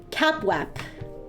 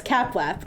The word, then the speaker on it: CAPWAP: You would send it through a protocol called CapWap. Yes, CapWap. All right. So normally, the normal situation is that you would have, there's a secure protocol called CapWap that would securely send this update, would securely